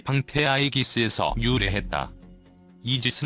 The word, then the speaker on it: 이지스: 방패 아이기스 에서 유래했다 이지스 는 아이기스 의 영어식 발음이다 이 방패는 번개를 막아낼